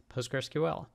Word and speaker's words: Postgres: And they're basically talking about the Postgres community and really how to write and pronounce PostgreSQL.